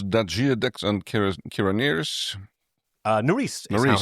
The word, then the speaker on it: Nerys: Nerys is how her name right, is yes.